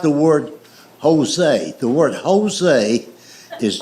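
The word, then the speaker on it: José: The word Jose is J O S E, but it's pronounced with a H.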